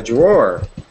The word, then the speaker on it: drawer: A drawer. Drawer. We kind of say it, it's spelled drawer, but we say it drawer. Drawer. Okay. It kind of sounds like drawer. Okay. We don't really pronounce the W.